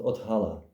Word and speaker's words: othala: It's pronounced othala.